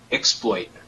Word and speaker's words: exploit: Maybe Shannon I cut you off it is pronounced exploit okay great I think all right not in